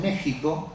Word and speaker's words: México: Y efectivamente está la Constitución mexicana con X y además los mexicanos dicen México yendo la X y de repente se